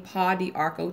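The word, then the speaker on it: Pau d'Arco: But that either one of those in combination with drinking Paw d'Arco tea or putting some Paw d'Arco in your tub. It's spelled P-A-U-D''ARCO.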